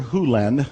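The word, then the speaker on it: Hew Len: heads nodding in dr len's world and it's actually dr hulen i've shortened it from e to dr len but it's actually dr hulen if you want to say his name correctly in doctor hulen's world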